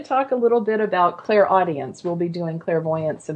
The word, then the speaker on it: clairaudience: We have clairvoyance, which is clear seeing, clairsentience, clear feeling, clairaugustus, which I always pronounce poorly, clear smelling or tasting, claircognizance, clear knowing. Clairaudience is a way of receiving intuitive messages without using the physical ears.